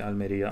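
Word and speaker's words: Almería: mountains everywhere but uh I guess I should say Almeria I I should I should just like I I shouldn't be inconsistent with pronouncing things the real way versus pronouncing them in the English way so anyway I ended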